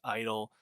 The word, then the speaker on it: (G)I-DLE: Dave here with a review of I-DLE's 6th EP, I Feel. Yes, I-DLE, the G is silent. Funny, odd name they have, but I-DLE, successful K-pop group, 5-piece